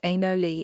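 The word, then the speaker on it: anole: Lois first formed this ad hoc study project when he was catching and measuring animal lizards pronounced anoli in the Bahamas over 20 years ago and noticed a female who was missing part of her hind leg.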